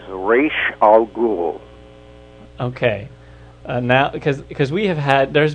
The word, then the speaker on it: Ra's al Ghul: be forever, banished, is, what is the proper pronunciation for Batman's arch-villain that you created? According to a language teacher at UCLA, who was asked that question by my daughter about 15 years ago, it is Raish Al Ghul.